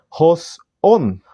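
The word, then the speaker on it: ὃς ὤν: Y primeramente lo vamos a poner en griego para poder ver su transliteración, el cual siendo en griego se pronuncia hos on, y la palabra hos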